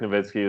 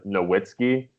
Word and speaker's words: Nowitzki: in their heads that a W in German makes a V sound in the English well not everyone's been